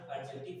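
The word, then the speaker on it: adjective: देखिए, इसको ना एडजेक्टिव पढ़ा जाता है, ए और जे के बीच में अगर डी आता है मिडिल में ना, तो डी को हम लोग साइलेंट रखते हैं, ठीक ना, इसी को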